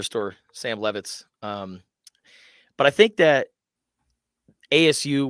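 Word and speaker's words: Leavitt: I believe it's Levitt. Levitt, which is funny. Sounds like the furniture store, Sam Levitt's.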